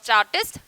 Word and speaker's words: Tsarist: They led a miserable life under the aristocratic rule of Tsarist emperor. So in this word T is silent, so pronounce it correctly.